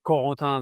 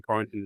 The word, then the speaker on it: Corentin: Yeah, Corentin, that's French pronunciation. Quarantine is not too bad. As long as you don't say quarantine, I'm fine.